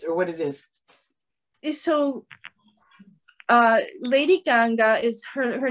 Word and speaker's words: Ganga: Is it you Ganga? Said you said Gaga. No, Ganga. It's the Ganges River, but I don't know.